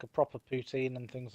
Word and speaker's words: poutine: I'd love to try like a proper poutine and things like that. Poutine, not poutine.